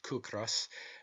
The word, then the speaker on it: ciocras: Such, for instance, are the Irish words ciocras, pronounced kukras, meaning hunger, and the word kis, pronounced kis, meaning rent.